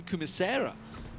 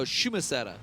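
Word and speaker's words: Chumacera: Desperados, they're coming in through Kumisera. Oh, Shumasera, I should say, to get the correct pronunciation of it. Shuma? Shumasera. Yeah, okay. Shumasera. Nice. I always either been north. I've always said Kumisera.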